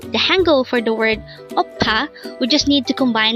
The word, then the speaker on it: 오빠: OPPA. OPPA. This word is composed of two syllables. The first syllable is O and the second syllable is PA.